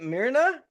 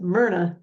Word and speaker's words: Myrna: if I get it right and is it Mira just Mna Mna just Mna why do I have a hard time with that I have Ann Mna and he is playing Angelica Grace in Night